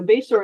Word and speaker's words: Bashore: to put that in there including myself so bayor is my married and I mispronounced my own name when I first met